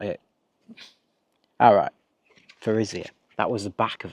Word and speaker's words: Thurisaz: So what does Thurisaz mean? That's not it. Alright. Thurisaz. That was the back of it. So the pronunciation is TH.